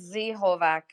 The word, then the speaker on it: Z-Hovak: artist so that is the z hovak or zovak how do you pronounce it uh it's z holvack okay so z-hovax here with us uh welcome